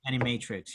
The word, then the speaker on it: Animatrix: are like historical prequel things that's how you pronounce it that makes a lot more sense any matrix yeah um i thought agent smith's character took